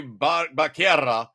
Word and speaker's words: Becerra: So Biden, Health and Human Services Secretary Xavier Becerra, and I say it correctly because there's two R's.